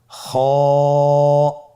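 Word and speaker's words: خ: খ হরফটির মাখরাজ হলো কণ্ঠনালীর শেষ ভাগ হতে উচ্চারণ করতে হয়, কণ্ঠনালীর শেষ ভাগ। আপনারা আমার সাথে বলুন খ, আবার বলুন খ।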